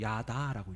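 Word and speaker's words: ידע: 지식이라는 단어는 히브리어로 야다라고 읽어요.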